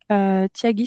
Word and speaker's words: Thiagi: Tyagi, ça s'écrit comme ceci.